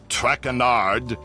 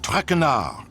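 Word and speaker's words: Trénard: as for my name not trenard it is trar trenard trar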